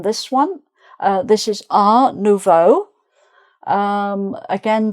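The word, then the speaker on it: art nouveau: And then this one, uh, this is R Novo. Um, again, the T isn't pronounced, so it's not art.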